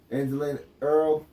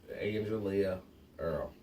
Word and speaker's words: Angelia Earl: Angelina Earl. I'm sorry about that. I'm really Angelina Earl is her name. Just for the record, it's Angelia Earl.